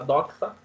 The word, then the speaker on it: doxa: Assim, Sócrates fazia a pessoa sair do senso comum, da opinião, que em grego se escreve doxa, se fala doxa, D-O-X-A, sair dessa opinião, do senso comum, para buscar uma verdade, a episteme, para buscar o conhecimento verdadeiro.